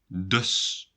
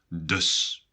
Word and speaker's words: dus: In Dutch, you say so by using the word dus. A bit like thus, but with a D. So, dus.